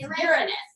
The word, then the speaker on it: Uranus: Uranus. Okay. Uranus. It's, this is the one everybody loves to say because you can sound somewhat dirty when you say it. It's Uranus. That's the way to say it.